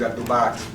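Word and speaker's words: Abdul-Baaqee: My last name is Abdulbaki.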